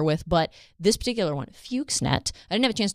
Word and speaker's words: Fuxnet: We will call it Fuxnet. That is how we are choosing to pronounce it.